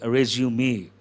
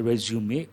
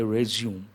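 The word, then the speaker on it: résumé: resume a candidate's resume but actual word arrays you me French word then you have to use two strokes and you have to pronounce what what are you supposed to say arrays you me but American English resume we don't say resume me we say resume and we don't use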